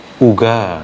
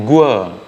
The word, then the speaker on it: uga: Sejauh yang saya pahami, bagaimana dalam bahasa Karo itu sebenarnya uga ya, uga, uga bacanya uga. Tapi dalam beberapa kesempatan saya mendengar orang Karo juga yang mengucapkan uga ini menjadi gua ya, gua. Tapi saya pikir ini kesalahannya.